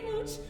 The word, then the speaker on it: Mooch: My name is Mooch, which rhymes with pooch.